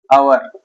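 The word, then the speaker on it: hour: Word को लेते हैं आवर और ये भी एच से स्टार्ट है। लेकिन इसका उच्चारण जो होगा वैसे होगा। आवर इसके पहले एन का प्रयोग करेंगे।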